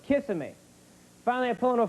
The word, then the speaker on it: Kissimmee: goes no it's pronounced kissimmee i said no it's kissimmee he goes no it's kissing me finally i pull into